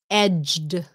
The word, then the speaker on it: edged: a good question pronounced edged edged the sound at the end very very important edge without the d edge and with the d edged you see it's very